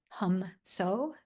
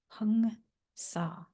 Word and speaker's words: Hong Sau: So I don't want you to get tripped up on Hong Sa. Hum So, Hung Sa. So that's what we're going to pronounce from the Bengali, I believe, dialect.